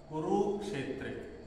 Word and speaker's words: कुरुक्षेत्रे: उकारची मात्रा त्याच्यानंतर रु मध्ये छोट्या उकारची मात्रा आहे पण पुढे संयोग अक्षर आहे त्याच्यामुळे हा रु काय झाला मोठा झाला त्याच्यामुळे रु चा उच्चारण पण मोठा करतो कुरुक्षेत्रे असं ठीक आहे आणि क्षे आहे